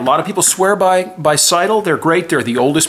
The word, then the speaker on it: Seydel: You might try a Seidel, S-E-Y-D-E-L, pronounced Seidel. They have steel reeds.